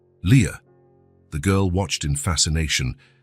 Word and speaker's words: Lia: This is your name, he explained, pointing at each letter as he pronounced them. L I A Leah.